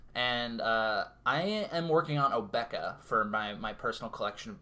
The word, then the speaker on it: Obeka: end-of-turn shenanigans, even though Obeka does have blue. Yeah. Nice that you mentioned it at the end of turn. But I prefer to pronounce it Obeka specifically because it rhymes with Topeka, but that's my opinion.